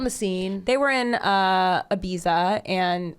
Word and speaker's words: Ibiza: They were in Ibiza and Say it right. Ibiza. Thank you. I'll say it like Julianne Moore. Put some heart into it. Ibiza.